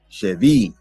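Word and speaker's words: שְׁבִי: away as a captive Chevy now granted this word that it does not have a doggish in the middle so it's more properly pronounced with a V sound dealing with the Sephardic Hebrew dialect uh but however some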